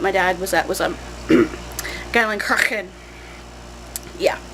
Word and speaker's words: Geilenkirchen: Basically, if there's any hard CH sounds, you kind of have to say them in the back of your throat. It's very guttural.